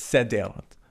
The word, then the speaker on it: Seder: On the first night and the last night, they have the Seder meal, or in Hebrew, it's Seder. That's how you pronounce it.